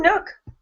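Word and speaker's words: Nuuk: in nuk Greenland oh Nook rhymes with look and book it does and I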